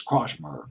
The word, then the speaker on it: Kortchmar: It's Kortchmar. I'll pronounce it as Krochmer. I think it's Krochmer.